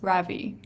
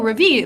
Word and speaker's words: Ravie: and she was like oh Ravi like the French word and I was like